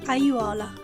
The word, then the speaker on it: aiuola: When you find a word with two or more vowels, one next to each other, always pronounce them all clearly.